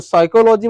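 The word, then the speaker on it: psychology: cycle logistics पढ़ते हैं तो इसमें क्या हो जाता है पीस साइलेंट हो जाता है क्या साइलेंट हो जाता है पी तो साइकोलॉजी मतलब होता है मनोविज्ञान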